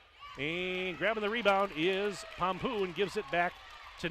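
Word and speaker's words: Pampuch: katie pompeo got it it doesn't look like that it's spelled p-a-m-p-u-c-h but coach told me she pronounces it pom-poo seven rebounds to three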